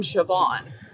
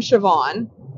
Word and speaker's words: Siobhan: Because I had heard the name Siobhan as a name in a show or whatever. Yeah. And I had read the name Siobhan, but did not pronounce it that way because it's Irish spelling.